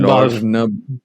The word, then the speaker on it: Balfe: Yeah, Like I don't know how you pronounce his name, Lorne Balfe. Lorne Balfe, right? Yeah, the E Yeah. is silent, right? E's are silent.